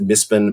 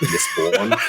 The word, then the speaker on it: Mispen: So we made like an in-world group called the Mispen, who, and I pronounce it Mispen because it's like Melbourne rather than like Misborn.